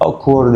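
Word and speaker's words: awkward: مريح او حد غريب اسمها اوكورد عشان حرف الاي لما بيجي بعده ال ال بنطقه او حرف الاي لما بيجي بعده يو بنطقه او حرف الاي لما بيجي بعده دبليو بنطقه او هقول اكورد ريكونكت دراكشن فستد عشان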